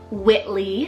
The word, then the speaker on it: Whitley: Xavi means Archer or Keeper of the bows Whitley spell w-h-i-t-l-e-y Whitley with that nickname of wit this one's